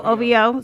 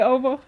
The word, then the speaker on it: OVO: you don't be thinking about hover over oh ovo so you don't actually pronounce it you just you don't say ovo but what else do we got so o-v-o